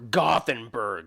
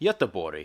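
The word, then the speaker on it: Göteborg: is located in the second largest city or gothenberg for the misguided English speakers largest cityi or it's Gutenberg it's how to pronounce it in Swedish guten wait what the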